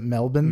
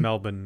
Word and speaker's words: Melbourne: melbourne but i've heard that you're supposed to pronounce it melbourne melbourne yeah melbourne australia i am uh but we have a